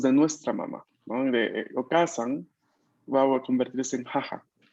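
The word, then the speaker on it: お母さん: Cuando hay palabras en japonés que en romaji usualmente se escriben con doble vocal, ¿no? Como por ejemplo la palabra okasan. Okasan. En este caso vamos a pronunciarla tal cual. No vamos a darle espacio debido a pronunciar la consonante larga, perdón, la vocal larga.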